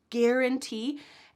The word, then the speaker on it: guarantee: Make sure that you have the hard G at the beginning of guarantee and that qu sound at the beginning of quarantine.